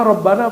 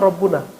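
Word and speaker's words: ربنا: rabbuna Rabbana apa rabbuna Kenapa Rabbana enggak boleh loh sembarangan baca fathah jadi alaslu ya pada dasarnya RB itu marfu marfu marfu itu dibacanya damah kalau dia mujarad kalau dia Mufrad rabbuna tapi kenapa dibaca Rabbana karena di depannya ada ya tapi enggak dibaca ynya disembunyikan saking dekatnya kepada Allah subhanahu wa taala maka dibacanya langsung Rabbana rbaana asalnya rbu nahnu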